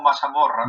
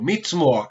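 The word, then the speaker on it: מזמור: ¿Cómo se dice salmo en hebreo? Vuélvelo a decir. Si no estoy mal, como Mazamorra. No, pero dilo porque ahorita lo dijiste bien. Mismo. Bravo, Mizmor.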